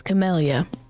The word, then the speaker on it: Camellya: I'm going to look up how you pronounce her name. I can't keep doing this. It's Camellya.